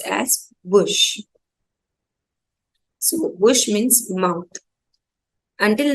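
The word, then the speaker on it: bouche: an example this is Bush it will be pronounced as Bush so Bush means mouth until now we have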